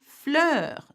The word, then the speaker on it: fleurs: Des fleurs, some flowers. So have a look at des has an S, fleur has an S. We pronounce neither.